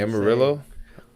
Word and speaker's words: Amarillo: know how many times because I thought they were just wrong, but no, that's how you say it apparently. You say Amarillo.